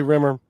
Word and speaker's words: Rimmer: By the way, we're talking with Josie Rimmer.